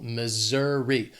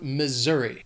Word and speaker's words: Missouri: This state has 3 syllables and the stress is on that 2nd syllable. Missouri. That S is gonna have more of that Z sound, Missouri.